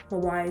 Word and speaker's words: MYWYA: Mawaya stands for Meet You Where You Are, and it's spelled MYWYA Tribe.